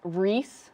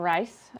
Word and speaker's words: Rees: ah it's so it's Rees not rice apologies but Reese you